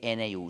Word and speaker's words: GNU: Se escribe GNU, se pronuncia en inglés GNU.